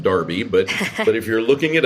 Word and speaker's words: Derby: So those folks over in the UK like to have Derby sound like Darby, but if you're looking it up, you spell it Derby.